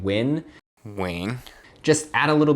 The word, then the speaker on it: Nguyen: right and number five on the list is win and playing now I know I said that a little fast but it's actually pretty easy to say throwback to number one whenever you were saying win Wayne just add a little bit of Stewie